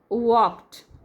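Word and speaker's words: walked: close by age mamma वॉक्ड L silent है बघा वॉक्ड away to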